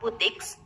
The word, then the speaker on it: boutiques: Kemudian pada kata boutiques, di situ ada titik 2, itu bacanya berarti agak panjang. Boutiques.